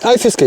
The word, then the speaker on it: Fiskeguide: Fiskeguide, yeah, Fiskeguide.